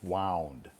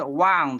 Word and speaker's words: wound: wind my watch tomorrow also the word wound has another pronunciation you know wound wound yeah wound yeah so wound wound has to do with the motion of you know we you you can wind a clock or a watch it's it's a it's an action you wound something but if you another pronunciation is wound w u n d a wound is like an injury yeah so I can